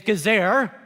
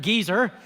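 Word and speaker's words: עֵזֶר: The Hebrew word translated helper is gezer, more fun to pronounce it geezer, but a woman is to be a geezer to a man, and vice versa.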